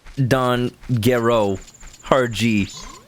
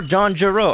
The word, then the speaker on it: Don Gero: Anyone who hasn't seen Dragon Ball Z says Don Gero, hard G. Oh, that's funny. You're right. Oh, wait. So that's a good question. Should it be Don Gero or John Gero? I say Gero because of Dr. Gero.